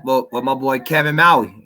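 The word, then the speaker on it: Mawae: I'm gonna go with my boy Kevin Maui. That's how you pronounce his name, right? Kevin Maui. Yeah, Kevin Maui or Kevin Maway. Maway, man.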